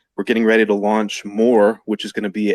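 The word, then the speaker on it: MOOAR: I can't pronounce it more more more like like I want to know more teach me more um deserve to have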